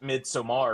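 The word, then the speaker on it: Midsommar: All right film festival and pronounce it midsomar or else they're going to look at you like you're dumb Austin.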